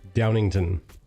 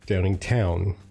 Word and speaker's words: Downingtown: I pronounced it Downington. There's a W in there. It's Downingtown.